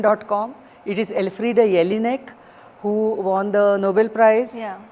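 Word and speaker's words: Elfriede Jelinek: minds like M uh to be the next El Freddy jelnick and Aruna de okay so the firstly get the pronunciations right of all International authors try to learn their language Google Google it Google the pronunciation.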